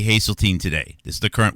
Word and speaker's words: Haseltine: It's h a s e l. Hazelene, not Hazelene.